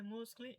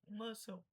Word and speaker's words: muscle: pronúncia em algum lugar, você seria ver que não é muscle e sim muscle.